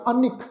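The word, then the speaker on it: ਅਨਿਕ: नानक रचना प्रभ रची बहुविध अनेक प्रकार, ये जिहड़ा शब्द आ ऐड़ा नन्ने नूं जिहड़ी सिहारी लगी हुई है अगे कक्का अखर, इस शब्द का उच्चारण सत्संग असीं करांगे। अनेक नन्ने नूं लगी हुई जिहड़ी सिहारी है उसनूं असीं उच्चारण का विशा बनाउणा है, उहनूं जरूर उच्चारण करना है।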